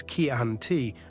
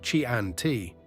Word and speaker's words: Chianti: Chianti is Chianti, not Chianti.